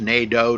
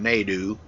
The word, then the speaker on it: Nato: It's Nato, not Nadu. He likes to likes it to be pronounced NATO.